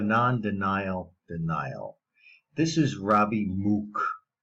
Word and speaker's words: Mook: This is Robby Mook. He likes to pronounce his name Mook. It's M-O-O-K. I pronounce that Mook.